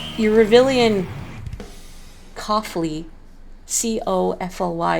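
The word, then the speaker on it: Cofly: soda your Rebellion coughly c-o-f-l-y is pronounced as coffee with an L but even you read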